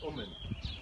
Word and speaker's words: Uman: It was in what's called Kiva Gubernia, not far from the city of Yossilinks and near Uman, and my mother always pronounced it Uman.